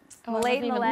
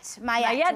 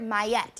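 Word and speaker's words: Maillet: Next week for the season finale of The Strain, we do have the master himself, Robert, how do you pronounce it? Millet. No, it's Mayette. Robert Mayette.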